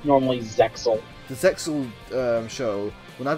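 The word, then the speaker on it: Zexal: Can you pronounce it? People say Zeal. People say Zeal, but it's normally Zexel.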